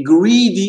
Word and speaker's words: greedy: Et greedy, allonge bien le I.